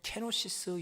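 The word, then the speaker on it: κένωσις: 여기 자기를 비워 종의 용찰를 가졌다 할 때 자기를 비워 7절에 있는이 자기를 비우다는 말이 어 원어로 보면 케노시스 이렇게 발음을 합니다.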